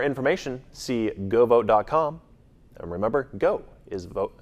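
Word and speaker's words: Geaux: And remember, GO is spelled G-E-A-U-X.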